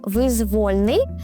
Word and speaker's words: визвольний: Ще такий лайфхак можна застосувати до слова визвольний, тому що від слова воля.